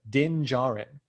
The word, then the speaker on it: Din Djarin: No, the D is silent. Din Djarin.